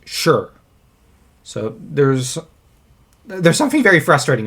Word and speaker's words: Shi: Because I know, Shima Yi's son, his name in English is spelt S-H-I, but it's pronounced Shur.